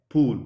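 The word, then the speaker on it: pull: So when we recite this poem, we need to just pronounce P-U-L-L as pool, not pool.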